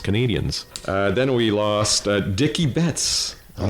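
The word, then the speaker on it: Dickey Betts: Uh then we lost Dicky Betts. I'm not sure if I'm pronouncing that right.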